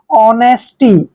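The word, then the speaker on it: honesty: एस टी वाई देखिए एच जब भी ओ से पहले एच आता है वहां पर हमेशा साइलेंट होता है यानी कि वहां पर हम एच का उच्चारण नहीं करते हैं देखिए ओ का उच्चारण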